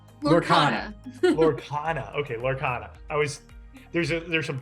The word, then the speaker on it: Lorcana: How am I going to pronounce it right? Lorcana.